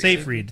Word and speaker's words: Seyfried: So for those of you who have seen In Time with Justin Timberlake and Amanda, is it Seyfried? Am I pronouncing her name right? Amanda Seyfried. Seyfried, thank you.